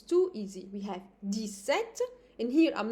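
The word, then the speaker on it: dix-sept: 17 to 19 it's too easy we have Des set in here I'm not pronouncing the S as you can hear d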